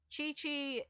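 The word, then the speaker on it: Qiqi: a simp god no chi chi it's pronounced chi-chi boy it's spell um q-i-q-i like i don't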